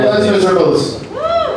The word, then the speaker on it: Les Misérables: Do you like Les Misérables? That's how you pronounce it, right?